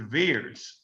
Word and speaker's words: VAERS: And I pronounce it what is the VAERS system, not the SARS, it's the VAERS system, valence surveillance system.